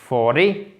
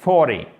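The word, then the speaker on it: forty: Donc, ce n'est pas 40, c'est 40. 40. Vous voyez, l'accentuation, elle se fait sur la première syllabe.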